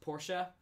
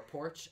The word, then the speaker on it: Porsche: It's pronounced Porsche, but he likes to troll me and call it Porsche or Porch, and it's like the one thing that actually makes me...